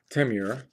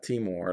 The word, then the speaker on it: Temur: Temur, if that's the way it's pronounced, not Timor like the country or region.